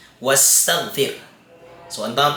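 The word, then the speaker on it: واستغفر: May nauna sa kanyang isang letra, magiging silent po siya. Wastaghfir.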